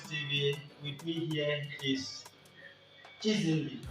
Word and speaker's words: Chisi: With me here is Chisi, right? Yes, Yes, Chisi. Don't know how Chisi. to pronounce my name.